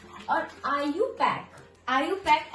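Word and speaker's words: IUPAC: और आईयू पैक आईयू पैक ऐसे नहीं बोलते हैं हम। ठीक है? इसको क्या बोलते हैं? आई यू पैक। आई जैसे ई वाई इ आई यू पैक पी ए सी के ये होता है इसका प्रोनाउंसिएशन।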